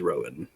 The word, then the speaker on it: Rohan: It is spelled as in the writers of Rohan, but it is Rowan.